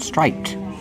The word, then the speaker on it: striped: Striped. These are striped shorts. But when you link the sounds, the t is between consonants, so you don't really hear it.